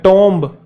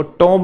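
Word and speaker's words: tomb: है हम बोलते हैं टोम है ना कब जिसको बोलता वो टोम नहीं वो टूम होता है तो कुछ वर्ड्स ऐसे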